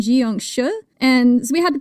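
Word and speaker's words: 僵尸: And this one is pronounced, I've actually heard it pronounced two ways, Jiangxi and Jiangshi.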